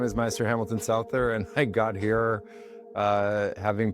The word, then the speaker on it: Souther: Well, I'm going to let you Souther.